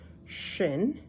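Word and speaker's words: שׁ: r like an R Shin sh has the dot on the right side that's important otherwise it sounds like the next letter which is a tough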